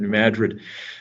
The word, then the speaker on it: New Madrid: i'm the superintendent of new madrid you know we put the accent on the mad there are reasons for that i'm sure uh new madrid county r1 school district